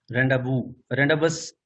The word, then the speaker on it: rendezvous: ये एक वर्ड है रेंडाबस, वैसे देखने में लग रहा है लेकिन रेंडाबू इसकी प्रोनाउंसिएशन है।